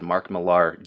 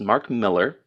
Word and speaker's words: Mark Millar: be right so Mark Miller I almost said Mark Millar damn it Zack and so his name is pronounced Mark Miller and and even the artists incredible for this